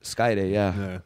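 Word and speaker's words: Skayde: Chicago, were running classes during the week, and Skyday, legendary. Is that how you pronounce it? Skyday, yeah, legendary mat-based wizard of Lucha Libre was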